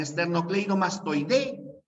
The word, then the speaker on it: esternocleidomastoideo: Ya en esternocleidomastoide, la fuerza de voz está en la E. Esternocleidomastoide, ahí está la fuerza de voz. Es una palabra grave que termina en vocal, por eso que esternocleidomastoideo no lleva tilde.